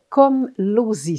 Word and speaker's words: Komlosy: Elle a enseigné à la polyvalente, donc le Boisé, pendant 22 ans et j'ai nommé Véronique Komlosy. C'est bien ça? J'ai bien prononcé votre nom de famille, Véronique?